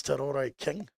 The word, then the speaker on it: Te Roy King: I believe it's Te Roy King. Yeah. Could be wrong. No, you're on the money there.